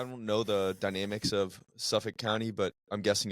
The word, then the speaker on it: Suffolk: Suffolk. Yep. So Suffolk. Suffolk, but basically don't pronounce a K.